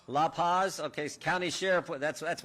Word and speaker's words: La Paz: are and I want to make sure I pronounce these loophos Lou Lou Paz like to say that County right La Paz okay County Sheriff that's that's what a Buckeye